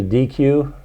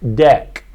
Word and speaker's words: deque: be a DQ right it's actually pronounced deck okay deck and a deck is like a deck of cards or a stack so